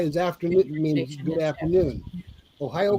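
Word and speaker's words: おはよう: Ohayo gozaimasu means good morning. So you can say Ohio because that just means morning.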